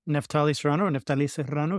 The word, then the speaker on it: Neftali Serrano: Hey everybody, Neftali Serrano. If you can roll your R's, I'm the CEO here at the Collaborative Family Healthcare Association.